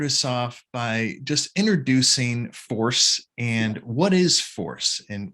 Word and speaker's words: FoRSE: uh project is is do you pronounce it 4c usually people say force but i've heard people say 4c and and that's not there's nothing right so let's say force it's an addiction treatment